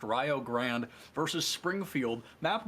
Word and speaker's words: Rio Grande: We are going to be back here on Game 2 between Rio Grande, not Rio Grande. I promise we are not saying it wrong. It is pronounced Rio Grande versus Springfield.